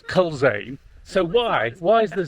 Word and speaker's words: Culzean: All right, but it's spelled Culzean.